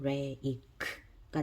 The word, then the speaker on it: rake: 그래서 요거는 rake가 됩니다. rake. 여기는 bake가 됩니다. 대신 요 끝에 있는 E는 소리가 나지 않습니다.